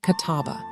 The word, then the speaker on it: kataba: For example, the past tense verb wrote in Arabic consists of the three letters k-t-b, pronounced kataba.